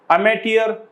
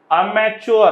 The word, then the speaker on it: amateur: नंतर अमॅच्युअर, हा अमॅच्युअर नसतं कधीच, हा अमॅटियर असतं. अमॅच्युअर हा शब्द नसतो, त्यामुळे हा चुकीचा आहे. आणि अमॅच्युअर हे स्पेलिंग चुकीचं आहे, हे बरोबर आहे अमॅटियर.